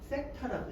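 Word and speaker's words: θ: 이런 문제들을 어디에서 나타내서 푸는 거냐면 이렇게 얘를 뭐라고 읽냐면은 세타라고 읽어. 세타.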